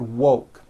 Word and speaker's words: woke: here's what you do to say the word woke first say whoa with the w sound at the beginning and at the end and then you just add the k sound whoa like that put it together and you've got whoa